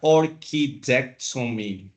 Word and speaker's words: orchidectomy: to talk about here orchidectomy orchidectomy but when we pronounce it together is orchidectomy other than that is orchidectomy so we can separate